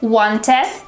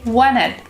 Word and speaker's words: wanted: When you have N and T in the word, the T disappears. For example, instead of saying wanted, we say wanted.